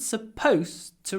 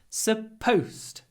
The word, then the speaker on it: supposed: It wasn't supposed to rain today. Supposed. Firstly, pronunciation. It's pronounced post with a T at the end. Supposed to. Supposed to.